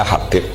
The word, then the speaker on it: Habib: Itu di harakatnya kitab itu ada yang nulis Hubab. Tapi yang benar Oh, nggih. Yang benar itu bacanya Habib.